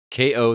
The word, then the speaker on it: Kao: thing over again it's oh yeah but anyway ko the kangaroo ko is spelled k-a-o um might want to wait on